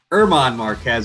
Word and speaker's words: Marquez: going against irmon gosh i always say the spanish guy's name though irmon marquez is how you say it and he has